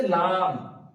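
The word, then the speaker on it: لام: তারপরে আছে লাম, লাম একদম সোজা, বা যেভাবে আমাদের ঠোঁট একসাথে মিলিত হওয়ার পর উচ্চারিত হচ্ছিল বা, তো ঠিক লাম উচ্চারণের সময় লাম, লাম। বা বলে আমরা ঠোঁটটা তুলে নিচ্ছিলাম, আর লাম বলার সময় আমরা লাস্ট অংশে লাম, এভাবে উচ্চারণ করবো।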